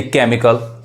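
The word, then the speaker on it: chemical: नो गलत हो जाएगा अब यहां पे जो सीच है वो क्या पढ़ा रहा है क पढ़ा रहा है यानी केमिकल अब यहां पे जो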